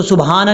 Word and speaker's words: سبحان: سبحانہ، یہ بھی وہی سیم جو آپ کو میں پہلے بتا چکا ہوں، با کے بعد ہا ہے، اس کو سبحانہ نہیں پڑھنا، سبحانہ، سبحانہ، یہ ہے اس کا پڑھنے کا طریقہ۔ ربی الاعلیٰ نہیں پڑھنا،